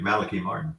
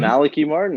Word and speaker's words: Malachi Martin: Yes, you properly pronounced his name too, Malachi Martin. Mm-hmm. Malachi Martin, that's right.